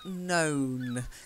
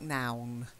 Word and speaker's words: know: word to know and know careful it doesn't sound like now I know you've got